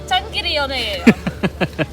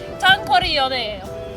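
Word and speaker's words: 장거리 연애: day" is: long-distance relationship It's... Jang... daftars It's... "Jang gi ri yeionae" LOL It's "Jnag GEO ri yeonae" I always say it wrong It's "Jang geo ri yeonae" So now for real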